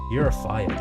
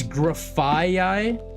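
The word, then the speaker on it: Grafaiai: Is it Girafaii? It's just 3? What? I'm probably just saying it wrong then. How is it spelled? It was pretty weird. It's Graffaii? Graffaii? Okay. I'm just stupid then. Graffaii. Okay. So for graffiti, and then what's the I part?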